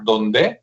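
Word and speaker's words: Dondé: Ingeniero que se apellida apellida donde así como donde pero con el acento en la e que está muy bueno.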